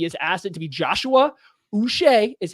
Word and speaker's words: Joshua Uche: for that he has asked it to be Joshua us is how you pronounce his name that like Bobby bu but